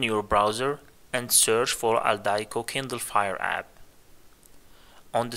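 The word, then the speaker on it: Aldiko: The third-party app that I use to access non-Amazon DRM ebooks is called Aldaiko. It's spelled A-L-D-I-K-O.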